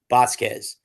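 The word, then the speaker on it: Bosquez: Basquez is how she pronounces her last.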